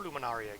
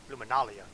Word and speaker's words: Luminalia: Oh, 2 more Luminaria gifts. Luminalia gifts. Let's use correct pronunciation.